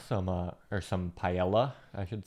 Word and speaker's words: paella: I mean, I know some paella, some uh or some paella, I should say. Great pronunciation.